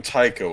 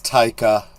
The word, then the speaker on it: Taika: So, okay, I keep calling him Tycho. Is that how you pronounce his name? Is it Taika? I think it's Taika.